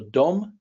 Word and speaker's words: dom: for home or house it's pronounced so Dome is just house kind of sounds like the English word Dome so Dome just means